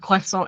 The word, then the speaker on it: croissant: The T at the end of croissant is a silent T.